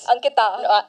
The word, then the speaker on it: Ankita: Ankita. Yeah, pronounced it right this time.